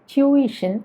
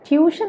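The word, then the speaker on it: tuition: പക്ഷെ സത്യത്തിൽ ഈ വാക്ക് പറയേണ്ടത് ട്യൂയിഷൻ എന്നാണ്. ചെറിയൊരു വ്യത്യാസം മനസ്സിലായോ? ട്യൂയിഷൻ, അതായത് ട്യൂ കഴിഞ്ഞിട്ട് ഒരു ഇകാരം വരുന്നുണ്ട്, ട്യൂയിഷൻ, അങ്ങനെയാണ് പറയേണ്ടത് കേട്ടോ. അപ്പോൾ ട്യൂഷൻ അല്ല, ട്യൂയിഷൻ. നമ്മൾ മലയാളികളാണ് എങ്കിലും നമുക്ക് നേറ്റീവ് സ്പീക്കേഴ്സിൻ്റെ പോലെ പറയാൻ ശ്രമിച്ചു നോക്കാമല്ലോ.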